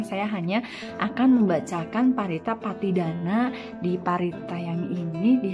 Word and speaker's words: Pattidana: Nah, bagi yang tradisi Theravada itu biasanya kita bacanya Patidana.